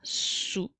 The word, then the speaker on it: sous: Donc, le son s s'écrit avec la lettre S et le son ou s'écrit O-U-S puisque le dernier S est une lettre muette. Alors, sous, comme dans les phrases,